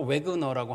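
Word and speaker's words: Wagner: 거기서 이제 과거에 피터 와그너라고 하는 사람이, 영어식 발음으로는 피터 웨그너라고 하는데, 그 사람이 이제 아주 굉장히 그 성령이 충만하고 능력이 많은 사람이었어요.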